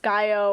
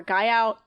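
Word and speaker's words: Guyot: One of the peaks on the list is, I've heard it either pronounced Gaio or Gaiout.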